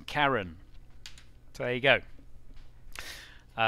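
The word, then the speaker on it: Charon: might see that name and you might think Sharan that's not actually how it's pronounced it's pronounced Karen so there you go it's actually pronounced Karen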